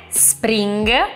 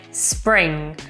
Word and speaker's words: spring: anche in questo caso attenzione alla pronuncia non è Spring ma è Spring Spring e la NG alla fine hanno proprio un suono nasale a me esce molto semplice